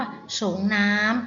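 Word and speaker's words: สรงน้ำ: นะ คะ หรือ ว่า คำ ว่า ส่ง น้ำ อัน นี้ อ่าน ว่า สรง น้ำ นะ คะ อาบ น้ำ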